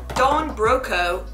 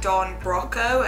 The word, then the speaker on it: Don Broco: It's less like Don Broco as in broccoli and more Don Bro as in, so basically exactly how you'd expect it to be pronounced.